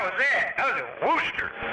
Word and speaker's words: Worcester: I was in Worcester. It's not Worcester, it's Worcester. Yeah, Worcester. No, it's not Worcester.